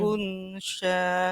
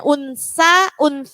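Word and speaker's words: أنثى: Jadi jangan keliru, jangan unsa dibaca unsa. Banyak sekali, enggak hanya jenengan. Wa ma khalaqadz dzakara wal unsa. Banyak yang baca begitu. Padahal sebenarnya itu huruf apa? Sa.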